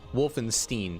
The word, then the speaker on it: Wolfenstein: scary movies and stuff it's pronounced Wolfenstein oh is it Steen now Wolfenstein Wolfenstein okay